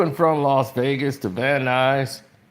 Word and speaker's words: Van Nuys: And they said, this flight, and Joseph Cirillo says, to and from Las Vegas to Van Nuys. He pronounced it the news, Van Nuys.